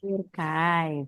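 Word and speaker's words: Türkei: Aduh, kalau gimana Kak bacanya? Turkai. Turkai, very good.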